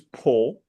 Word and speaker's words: Po: How do you pronounce this? Po.